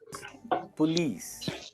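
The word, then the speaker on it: police: पुलिस। क्या है? पुलिस। इसमें जो लीज है ना उस पे स्ट्रेस होता है, पुलिस। ये सही प्रोनाउंसिएशन है इसकी।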